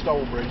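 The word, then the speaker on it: Stalbridge: Or Stourbridge, whichever way you want to pronounce it, but it's actually Stourbridge is the way we say it.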